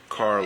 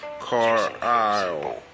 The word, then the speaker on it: Carlisle: Carlisle. Yeah, the S is silent, as in an isle. Isle, essentially. Carlisle.